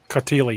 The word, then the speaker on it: Cautili: Joseph Cautili, is that the correct pronunciation, gentlemen? Cautili, yeah.